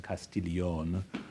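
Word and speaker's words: Castiglione: 19th century the contest castillion I give her the French pronunciation of her Italian name because she was she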